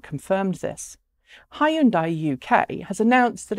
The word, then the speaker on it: Hyundai: And yes, it's Hyundai because that's how you say it in England.